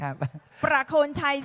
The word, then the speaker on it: ประโคนชัย: ณ ที่ ห้อง ประชุม ประโคนชัย นะ คะ ออก เสียง ชัด คำ ว่า ประ นะ คะ เป็น ภาษา ภาษา ท้อง ถิ่น ของ บุรีรัมย์ อีก ภาษา หนึ่ง นะ ครับ ประโคนชัย ส่วน ใหญ่ แล้ว เจ้า